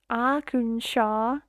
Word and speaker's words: Arkansas: Um, how to pronounce our Kansas? Arkansas. I guess it's a I don't know how that makes sense. Acha. This feels more Norwegian. Arkansas.